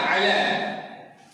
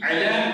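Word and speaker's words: إلى: আচ্ছা বলছি অ্যাকচুয়ালি আইন এটা, তারপরে লাম লাম, এই যেখানে টান হবে বলে একটা ইয়া লাগে আলা আইলা, মানে ইয়াটা উচ্চারণ হবে না, এক আলিফ টান হ্যাঁ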